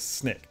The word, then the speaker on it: SNCC: And it's pronounced SNCC. It looks somewhat like SNCC, but the widely accepted pronunciation for that is SNCC, or the Student Nonviolent Coordinating Committee.